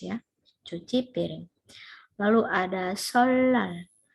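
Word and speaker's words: 설날: Lalu ada solal. Solal, ya ini bacanya bukan solnal ya.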